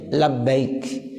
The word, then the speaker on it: Labbaik: kalam baik Labbaik Nah itu bacanya Labbaik kalau kata orang-orang kita baik nah begitu kita dipanggil